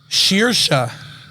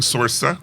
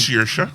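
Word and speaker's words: Saoirse: Yeah, she was the one who taught us how to correctly pronounce Shearsha. It is Shearsha Ronan. Like Shearsha? Like sheer curtains. We were saying Sorsa. Right. But it's Shearsha. Sheer curtains or a pair of kitchen shears.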